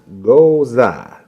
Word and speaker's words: Gose: All right, so the next one that we're going to do, it's the Juniper, and it's pronounced Gose.